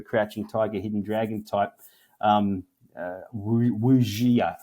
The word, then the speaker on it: wuxia: Tiger, Hidden Dragon type wuxia, I think it's pronounced, wuxi action.